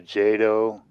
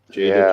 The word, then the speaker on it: Jada: I think I saw a jado is that how you say it toys it was Optimus but it was like uh 118 scale it was really big Jada toys yeah that's it I saw it did